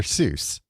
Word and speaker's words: Seuss: You're as wrong as the deuce, and you shouldn't rejoice. If you're calling him Seuss, he pronounces it so. These Ivy League eggheheads want us to believe that it's Dr. So. Yeah. It's not Dr. Soy, it's Dr. Seuss.